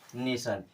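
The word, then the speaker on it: nation: उसे हम क्या पढ़ेंगे तो टी आई ओ एन को हमेशा क्या पढ़ेंगे सन क्या पढ़ेंगे सन इस प्रकार से टी आई ओ एन को सन की तरह से प्रोनाउंस करना है एक छोटा सा वर्ड लेके मैं आपको एग्जांपल से दिखा दे रहा हूं जैसे एन ए टी आई ओ एन इसे क्या पढ़ेंगे नेशन टी आई ओ एन आया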